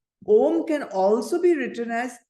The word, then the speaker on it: Om: Now, see, in Sanskrit, the vowel O is a diphthong.